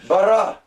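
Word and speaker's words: בָּרָא: And then the final is Aleph. It's silent, right? We'll just do a superscript up there, like that. And it is simply pronounced bara.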